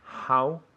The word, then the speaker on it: how: How, con esta H muy suave.